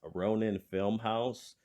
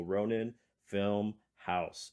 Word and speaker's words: RoninFilmHaus: me which is at Ronin film house uh on Instagram uh but the house is spelled h-a-u-s everything else is spelled as it sounds so Ronin film house h-a-u-s so follow me